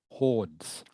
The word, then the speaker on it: hordes: Okay, so it is pronounced hordes of tourists, okay? Not hordes, not hordes, all right? The E is silent. The E is silent in this word. So it is hordes of tourists, hordes, like HORDS.